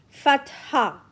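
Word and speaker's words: فتحة: above the letter okay it is read as fat ha okay fat ha the pronunciation of fatah is a a in apple if I cut out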